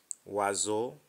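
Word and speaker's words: oiseau: reading we move on o i is pronounced as wa example poisson Noah to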